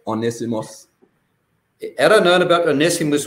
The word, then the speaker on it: Onesimus: pronounce this, Mikey, Onesimus, how would you pronounce that name? Yeah, that's correct, Onesimus.